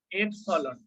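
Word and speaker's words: epsilon: তার মানটা নির্ভর করবে হলো এই যে তড়িৎ ভেদ্যতা কি জিনিস, হলো তড়িৎ ভেদ্যতাকে আমরা এপসাইলন দিয়ে প্রকাশ করি, এপসলন, এটার উচ্চারণ কি এপসলন, ঠিক আছে।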